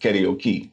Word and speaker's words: karaoke: I remember going to do karaoke in Hawaii, and my buddy was like, no, it's pronounced karaoke.